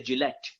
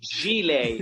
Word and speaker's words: gilet: I used to say Gillette. Isn't that a shaving brand? Like gilet.